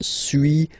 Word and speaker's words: suis: So first one, suis, as you've been noticing, you don't pronounce the final S, okay?